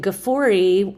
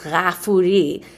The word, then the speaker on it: Gafori: And so my last name, Gafori, is correctly pronounced Ghafuri, and it comes from one of these 99 names of God, which is Ghafur.